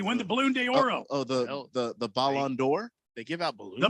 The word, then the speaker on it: Ballon d'Or: He's from Brazil, so they don't Did he pronounce win the he's from Barcelona. Did he win the Balloon de Oro? The Balloon d'Oro. Did he win the Balloon d'Oro? The Ballon d'Or.